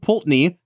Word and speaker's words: Pulteney: uh the balven like if it's going to be peni it's just py there's like 17 e